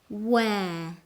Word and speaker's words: where: Where? It's pronounced where. The letter R is very soft or doesn't sound at all.